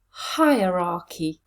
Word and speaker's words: hierarchy: most of my clients how many syllables in this word hi er ra key four syllables now let's have a look at the sounds in those syllables first syllable i long vowel second syllable a weak unstressed vowel third syllable final syllable long vowel let's put them together hierarchy where is the stress hierarchy yes it's at the beginning let's put this together